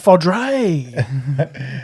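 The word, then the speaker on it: foeder: Fuda? Fudra? Or is it Fodre? Fodre. Butchered Australian bogan pronunciation.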